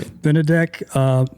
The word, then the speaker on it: Benedek: Benedek, my friend Benedek, again, or I shouldn't say again because you guys didn't hear that part. We met a while back, Benedek number 2, who is the CFO of your company, Vuvo.